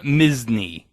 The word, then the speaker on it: Misny: Starting with Tim Misny. Like Disney, but it's spelled M-I-S-N-Y.